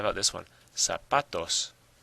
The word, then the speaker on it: zapatos: Zapatos. Zapatos. Well, you probably hear that the stress is on the pa.